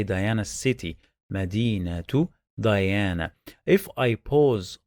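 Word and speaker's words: مدينة: i say medina medina i don't say medinette medina it is wrong and just pronounced the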